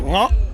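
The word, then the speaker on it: เงาะ: This is called ngot. Ngot. Ngot. It's a weird, it starts with the NG sound.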